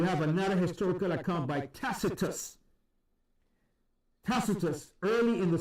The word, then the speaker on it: Tacitus: and then you have another historical account by tacitus tacitus early in the 2 Century another reference to the crucifixion of yahawashi was made by tacitus he was considered considered one of the greatest